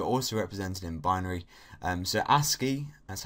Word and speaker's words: ASCII: So ASCII, that's how it's pronounced, ASCII, which stands for American Standard Code for Information